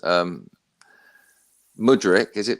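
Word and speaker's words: Mudryk: I'm gonna go for Physicians because I can't pronounce some of the names um mudrick is it Modric yeah a lot of people yeah him yeah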